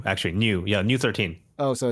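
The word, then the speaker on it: ν-13: v number V is it's not pronounced as V I believe so it is it's that is pronounced as new actually new yeah new 13. oh so it's new 13 okay that wasn't the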